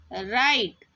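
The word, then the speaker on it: write: यहां पर देखिए डब्ल्यू आर आई टी ई राइट यहां पे डब्ल्यू जो है वो साइलेंट है।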